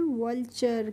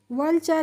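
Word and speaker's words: vulture: तो VALTURE को हम पढ़ते हैं वल्चर। क्या पढ़ते हैं? वल्चर। यहाँ पे जो TURE है इसका प्रोनाउंसिएशन फ्रेंड्स होता है चर करके।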